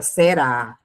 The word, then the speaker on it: será: A palavra será é acentuada por ser oxítona, ou seja, a sílaba tônica é a última.